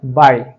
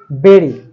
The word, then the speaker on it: bury: BURY. সচরাচর বলা হয় বাড়ি। কিন্তু সঠিক উচ্চারণ হচ্ছে বেরি।